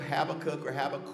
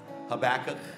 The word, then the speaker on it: Habakkuk: But in the book of Habakkuk, or however you want to pronounce it, Habakkuk. So I've had all different seminary professors, they all pronounce it different, you know, this kind of thing.